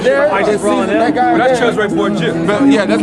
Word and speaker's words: Cesare Borgia: Cesare Borgia. But yeah, that's how you pronounce it.